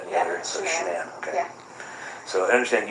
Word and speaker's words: Shanann: It's Shanann. You pronounce it like shenanigans. Okay. Everybody calls her everything else but that, but it's Shanann.